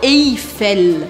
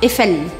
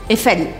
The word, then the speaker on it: Eiffel: Eiffel não é para você falar Eiffel. Não é para pronunciar esse I. Por quê? Porque EI em francês tem som de E. E. E é por isso que eu vou falar la tour Eiffel. La tour Eiffel. D'accord? Pronunciando bem o L no final.